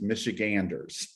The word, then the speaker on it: Michiganders: which right now goes to about 25 000 michiganders uh and i found out the hard way it's michiganders so so that's what i do my background